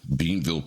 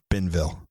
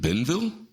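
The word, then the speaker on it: Bienville: Barrow family would have right right so Louisiana beanville Parish Henry's parents it's actually pronounced benville is it Ben Ville it's benville well things aren't like they're spelled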